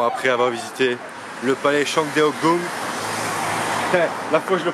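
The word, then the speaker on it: Changdeokgung: Bon, après avoir visité le palais Shangdeogong, la fois je le prononce bien, il y a une bagnole qui passe.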